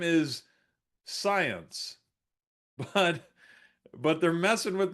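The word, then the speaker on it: Psyence: This company's name is Science. But but they're messing with my head because it's spelled P S Y N C E. Science like psychology but science.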